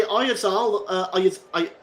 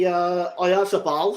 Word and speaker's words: Oyarzabal: And it was nearly Oyarzabal. I'll get that pronunciation right. It was nearly Oyarzabal, I should say.